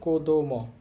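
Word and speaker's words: 子供: দেখেন এখানে কি লেখা আছে, আমরা দেখতে পাচ্ছি শুরুতে কাঞ্জিটা আছে, তাহলে এই কাঞ্জির এখানে উচ্চারণ হবে কো। তারপর আছে দো মো, একত্রে বললে কোদোমো।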